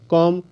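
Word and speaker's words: comb: बी ओ एम बी बम सीओ एम बी कॉम डीओ एम बी डम तो इसका उच्चारण मैं नहीं कर रहा हूं तो इस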